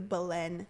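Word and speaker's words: Belen: school Galen balen Balin it's spelled like Helen but with a B but it's a balen how far is that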